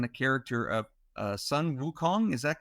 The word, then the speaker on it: Wukong: is based on a character of uh Sun Wukong is that correct I don't know if I'm pronouncing that correct yes yes um or The